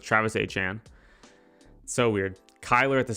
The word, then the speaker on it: Etienne: I'm going to try and say his name how it should be pronounced. I will do it. So it's Travis Etienne.